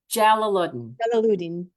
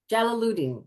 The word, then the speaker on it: Jalaluddin: How do you pronounce her last name? Jalaluddin. Jalaluddin.